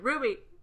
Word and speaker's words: RWBY: Is that how you say it? It's Ruby, yeah. That's how you say it? I've always Yeah. said the letters.